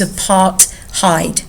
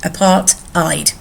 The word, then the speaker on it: apartheid: key word apartheid now it's got a silent h in it so it's a part hide apartheid sorry apart i'd okay and it's a